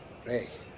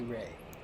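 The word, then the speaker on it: Rehg: r e g h I believe the German pronunciation is Ray I we'll call him Wally Ray 277 and0 249 and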